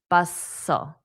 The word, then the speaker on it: bustle: Now, notice the T is silent. Hustle. Bustle.